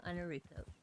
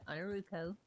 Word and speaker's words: Ainurauco: streams before, I am Ainurauco. Everybody says my name completely wrong because in their brains the A and the O should be switched for the way I pronounce it, but it's Romanian.